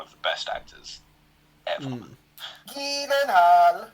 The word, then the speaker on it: Gyllenhaal: Gyllenhaal. Apparently that's how you're meant to say his name.